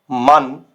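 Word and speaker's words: Mann: तो इसका जो प्रोनाउंसिएशन होगा ये आपको शॉर्ट रखना होगा, शॉर्ट। पिछली स्लाइड में था आपका लेंदी, तो ये शॉर्ट रखना होगा। zum Beispiel मन, मन, कॉमन, कॉमन, वासर, वासर।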